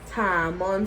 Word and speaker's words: tamarind: about your time brand I know it's spelled Tamarind but it's time on now Tama so if